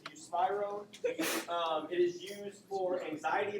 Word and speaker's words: buspirone: Okay, so the first drug on the non-benzos is, I looked it up, buspirone is how you pronounce it, buspirone.